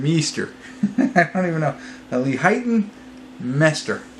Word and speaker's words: Leighton Meester: Leighton Meester. I think that's how you say it. Leighton is right.